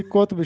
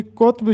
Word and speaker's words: قطب: بھی پیش، تو کتب۔ لیکن کلی قطب شاہ میں کاف پر پیش ہوگا اور توئے پر جزم ہوگا۔ کلی قطب شاہ، ہم